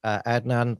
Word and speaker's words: Adnan: also not the gospel Trope as well so Adnan welcome to wisf front have I pronounced your name right yeah you have thank